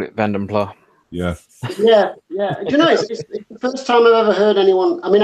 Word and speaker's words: Vanden Plas: still gonna call it Bend imply yes I mean I've heard Americans say vanden plas but yeah I do that if you can actually pronounce it quite close to the Dutch but then again New